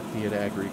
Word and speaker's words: Fiat Agri: I have never seen a Fiat Agri combine. That's how you pronounce it.